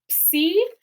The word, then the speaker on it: Psi: All right, second to last, we have psi. Psi is the equivalent of a P and an S sound together in English. It's a ps, right?